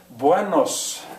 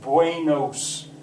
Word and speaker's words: buenos: that Spanish word buenos, if you pronounce it carelessly, a an English speaker is going to want to say buenos. They're going to want to go A-E instead of just eh. It's bue, bue, bue, o.